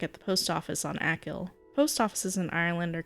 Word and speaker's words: Achill: I'm probably pronouncing Achill incorrectly. Achill? You know, it's cool. I'll just pronounce it Achill until somebody is... Oh, here it is, pronunciation Achill. I was getting it right!